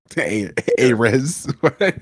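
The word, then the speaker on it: Ayres: Ayers.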